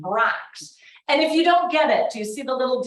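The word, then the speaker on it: Brach's: the logo it says please ask for b-r-o-x that's in case you don't speak German and you don't know how to pronounce this German name Brax and if you don't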